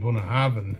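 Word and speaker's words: Bunnahabhain: Well, it's even just saying Bunnahaven because it's actually B's. B and H's are pronounced V's, and that's Scotch Gaelic for you.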